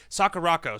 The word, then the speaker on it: Sakurako: I swear to God I can say it Sakurako so Sakurako is a blonde but not not